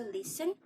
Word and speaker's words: listen: No T is heard in fasten, hasten, which make them rhyme with arson, mason. The same applies to listen, soften, nasty, hasty, faster,